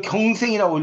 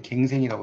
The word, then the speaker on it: 갱생: 사는 걸 갱생이라고 해요 이걸 경생이라고 읽으면 큰일납니다 그때는 갱생이라고 그러니까요 그런 인물들이 있다는 겁니다